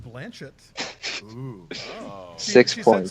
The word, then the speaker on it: Blanchett: I know it's pronounced Blanchett.